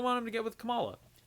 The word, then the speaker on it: Kamala: and i really want him to get with kamala it's how you pronounce her name i really want him to